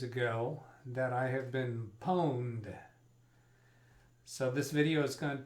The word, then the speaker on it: pwned: their logo you've been pwned the connect correct pronunciation for that is pwned it looks like pawn to me but uh poland is the right